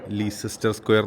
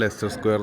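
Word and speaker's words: Leicester Square: ലെസ്റ്റർ സ്ക്വയർ എന്ന് ഇംഗ്ലീഷിൽ എഴുതുമ്പോൾ ആദ്യം നമ്മൾ വായിക്കുക ലീസെസ്റ്റർ സ്ക്വയർ എന്നൊക്കെ ആയിരിക്കും. ഞങ്ങളും അങ്ങനെയാണ് ആദ്യം പറഞ്ഞുകൊണ്ടിരുന്നത്. പിന്നീടാണ് ലെസ്റ്റർ സ്ക്വയർ എന്നാണ് യഥാർത്ഥ ഉച്ചാരണം മനസ്സിലായത്.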